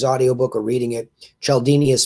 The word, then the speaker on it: Cialdini: in hearing his audio book or reading it chaldini is spelled c-i-a-l-d-i-n-i c-i-a-l-d-i-n-i robert cialdini wrote a book